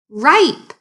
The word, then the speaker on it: ripe: that word second graders rip rip that's a cvc word so that is a short vowel sound a short i sound add the e on the end and turn that i into a long i sound what word does it